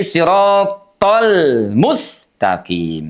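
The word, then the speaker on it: صِرَاطَ الْمُسْتَقِيمَ: Jadi, tholmu itu huruf lamnya dibaca dengan suara mengalir walaupun tidak sebenarnya mengalir karena huruf lam itu sifatnya tawassut. Ah, bainiah antara dijeda dengan mengalir ya. Tidak siratal mus. Ah, tapi siratal mustaqim.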